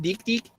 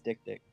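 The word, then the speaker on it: dik-dik: dick dick is it is it not pronounced deep deep no it's dick dick so dick dick let's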